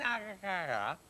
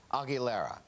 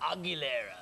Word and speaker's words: Aguilera: said he said christine agriculture but how do you say her name this is how how she says it i believe christina aguilera christina aguilera aguilera yeah and i think